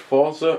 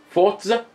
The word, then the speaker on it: Forza: But if this is Forza, why is there A, no T, between the R and the Z? And B, there's not even any umlauts or accents above any of the letters that would signify that it's pronounced Forza. You know, there's not even a space so that you can't even see it Forza. You know, that I don't get it. There's nothing that would suggest that if you weren't